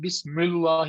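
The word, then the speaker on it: بسم الله: But in Bismillah, how do we say? Bismillah. We don't make Bismillah.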